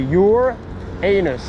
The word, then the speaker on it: Uranus: Alors c'est marrant parce que la planète Uranus, ici, si tu veux le prononcer, c'est your anus.